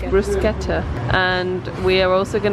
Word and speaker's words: bruschetta: one of them did you know it's not pronounced bruschetta is pronounced bruschetta and we are also going to get the